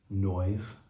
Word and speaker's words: Noyes: your last name, Noyes, spelled no yes, Noyes. Pronounced. Noyes. Although when we had the lead singer from Herman's Hermits do a shout out to my mom that one time, and he's from England, he pronounced it Noy, and he did it very deliberately on purpose, like he knew what he was talking about.